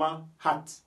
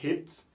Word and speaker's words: hat: Par exemple, ici, pour dire H-A-T là, on prononce ça comme hat. We say hat. Pourquoi on dit hat? On ne dit pas hit.